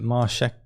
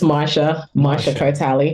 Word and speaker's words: Marsha Cartali: Is it Marshek? I'm not sure how to say her name. No worries, it's Marsha Cartali.